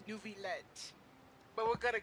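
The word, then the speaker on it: Neuvillette: to tell my friend I found out how to say his name his name is nuet but we're going to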